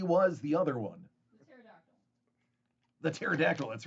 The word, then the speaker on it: pterodactyl: the other one the pterodactyl that's right kind of a play on uh the silent p and pterodactyl she's got a standing